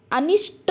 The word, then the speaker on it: अनिष्ट: शब्द क्या है अनिष्ट अनिष्ट अब आप यहां देखिए कि अनिष्ट शब्द क्या है शुद्ध है जबकि इसमें ठ का प्रोनाउंस एशन क्या है गलत है अभी आपने क्या